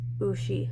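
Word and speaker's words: うし: So English, hiragana, and then in romaji, and we would pronounce this ushi.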